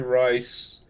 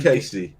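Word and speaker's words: Cayce: in the comments edgar rice he's an awesome guy i loved i loved reading about edgar rice edgar rice edgar rice craig casey and i'll say it right edgar casey edgar sleeping yeah the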